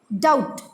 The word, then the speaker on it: doubt: Then doubt, here B is silent.